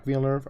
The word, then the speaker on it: Villeneuve: So, randomly, I just found out that this is another Denis Villeneuve movie, who I finally learned how to pronounce his name once I realized that he was French-Canadian.